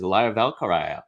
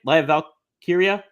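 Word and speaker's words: Lyra Valkyria: we also had another uh someone debuting is liar valkar how do you say it liar Val Kira I think I got it that time yeah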